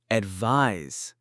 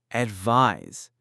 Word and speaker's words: advise: Advise. And now the verb form advise. Notice the s sound at the end.